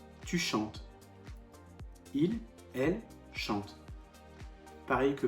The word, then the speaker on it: chantes: premier groupe je chante tu chantes attention ne prononce pas le s jamais tu chantes il elle chante pareil